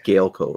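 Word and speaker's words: Gaelco: yeah because you're saying gallico i'm like wait a second weird see i don't know it's a spanish company so i'm assuming it's galeco right i think so that's how it's pronounced yeah but that one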